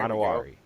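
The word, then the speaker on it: Emanwori: Imanawari.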